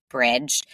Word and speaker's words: Brij: relationship so that's where Bridge it's spelled b r i j but pronounced Bridge that's where that comes